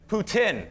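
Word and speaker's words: poutine: syrup and our hockey the official pronunciation is Putin Putin is the official pronunciation you can have some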